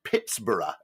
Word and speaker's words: Pittsburgh: which didn't have its H forcibly removed HD yeah I think I think the original intention was to was to pronounce it Pittsboro in the same way as Edinburgh Edinburgh hmm yeah but strangely